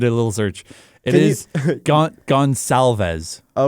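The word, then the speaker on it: Goncalves: I I looked up the There's an NHL pronunciation guide. Yeah. So, I quickly did a little search. It is gonalves.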